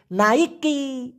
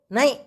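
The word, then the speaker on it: naik: এটার সঠিক উচ্চারণ হবে নাই লাস্টে একটা ধাক্কা হবে ক এই ক টাকে ছোট্ট করে উচ্চারণ করতে হবে মানে এভাবে বলা যাবে না নাই এভাবে বলতে হবে নাই লাস্টেরটা ধাক্কা নাই মানে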